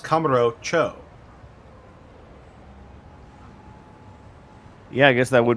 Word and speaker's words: Kamurocho: when you realize that I think Cho means town or district. Mm-hmm. Or city, I think. And Kamuro is just the name of it. So it's Kamuro Cho.